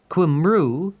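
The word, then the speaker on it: Cymru: If you live in Wales, write to H Concern Kumu, which is spelled C Y M R U, fourth floor, 1 Cathedral Road, Cardiff, CF1 9 SD.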